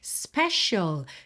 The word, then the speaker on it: special: Special. Também pintei de verde aqui para você ter atenção a essa pronúncia, principalmente essa letra C, que não sou a C e sim SH. Special, ok?